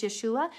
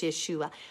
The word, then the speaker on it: Yeshua: the Greek subagent it proves that that it's Yeshua so the Greek subagent is an ancient writing